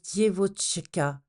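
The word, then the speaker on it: девочка: ou la jeune femme qui se prononce dievocha en russe ce sens explique pourquoi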